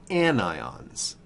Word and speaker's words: anion: charge these ions are called anion not anion and certainly not onion an ion and the prefix and